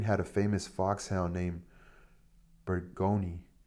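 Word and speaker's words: Burgoyne: Nutting had a famous foxhound named Burgoni. He pronounced it Bugony, which my informant used to borrow.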